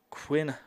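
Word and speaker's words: Kwynn: here to Quinn Fransworth, who first name is spelled very differently than what you'd expect from Quinn. Normally you see Quinn, you think Q-U-I-N, maybe Q-U-I-N-N. She's got it spelled K-W-Y-N-N. Very unique spelling of it, but the same name either way.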